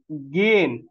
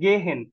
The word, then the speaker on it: gehen: ওকে, তাহলে গেন, নট গেহেন, গিয়েন, গিয়েন, এইচটা silent থাকে, গিয়েন।